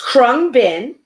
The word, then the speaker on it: Khruangbin: i may go on it's krung bin which is which literally means flying engine or airplane in thai um it's an american this band krung bin is an american musical